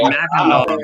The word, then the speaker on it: Mackinac: Jay Terrio said Mackinac fudge. That's Mackinac fudge. Same Oh thing. crap! Then Well, I it's can't make it. Mackinac. It's Mackinac.